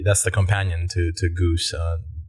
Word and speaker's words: GOOS: know there were typing go go actually it's pronounced Goose um and windows and go build and like